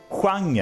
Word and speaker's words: genre: thing it's spelled the same way but we pronounce it hanger out of it.